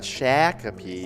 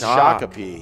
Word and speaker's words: Shakopee: the actual pronoun uh actual pronunciation is shakapee shakopee not shakopee yeah it's shakopee yeah yeah and if you're